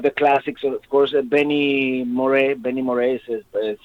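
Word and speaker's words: Moré: say one of the classics of course Benny Moray Benny Morris is spelled Benny m-o-r-e last name and and probably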